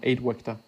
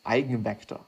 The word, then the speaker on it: eigenvector: The 8-vector it's not 8-vector vector, it is eigenvector. Or I guess it is eigen, I'm just gonna pronounce it in a German way.